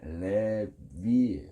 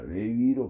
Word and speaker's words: 레위: 어 히브리어로는 레 레비 정확하게 레비 레비를 영어식 발음으로 가다 보니까 그게 레위가 레위로 바뀐 레위를 빨리 발음하니까 레위